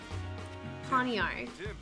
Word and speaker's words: Pawniard: Pawniard.